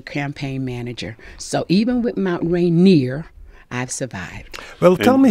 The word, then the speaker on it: Mount Rainier: the correct name if you're an old-timer is Mount Rainier and I always say it's Radio in Mount